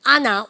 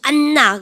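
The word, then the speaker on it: Anna: 그러니까, 여러분들, 아나 뭐라 합니까? 그러면요. 이거 읽으실 때 안나 그러시면 안 돼요. 영어는 N이나 M이 두 개 겹치면 발음 한번 해야 되죠. 쌤이 썸머입니까? 서머입니까? 서머.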